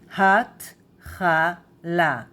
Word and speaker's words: התחלה: This is the Chet, right? The sound of kh. התחלה.